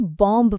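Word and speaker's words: bomb: जैसे पहाड़ पर क्लाइंब किया जाता है, क्लाइंब्ड नहीं, एक बॉम्ब फटता है और केक का एक क्रम गिर सकता है। नियम वही है, अगर शब्द MB पर खत्म हो तो बी चुप रहेगा।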